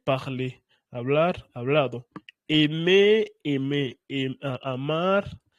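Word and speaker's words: parlé: Y tiene la misma pronunciación. Parler parler hablar hablado.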